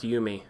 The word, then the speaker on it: Yumi: D4, it's actually pronounced Yumi. Thank you. I was just going to correct them. Yumi. Yumi. It's not Yumi. Yumi. Like picture the U as two O's and then the I is an E.